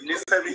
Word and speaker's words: Nifemi: Yes, you actually said I'm sorry, Nifemi.